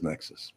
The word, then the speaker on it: Nexcess: Or is it Nexus? No, Nexus. It is Nexus. It's spelled Nexcess, though. So I don't know what that would be, but I'll say Nexus. Okay.